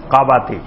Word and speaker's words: কাবাতি: ওইটার নাম ছিল কাবাতি ওইটাকে এমনে কিপ্তি বলা হয় কিন্তু মূল উচ্চারণ হলো কাবাতি এক গ্রুপ হলো বানি